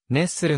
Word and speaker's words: ネスレ: などにおいてネスレを熱するのように発音することがある日本では 1994